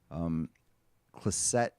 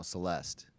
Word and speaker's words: Celeste: Clisette, is that the right way to say it? Celeste? No, Celeste, right? Like a female name.